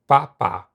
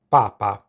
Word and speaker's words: papà: papà, A very easy mistake you might make when you first start learning Italian is to accidentally place the emphasis on the first rather than the last syllable. If you place it on the first, you get papa. which is the word for the Pope.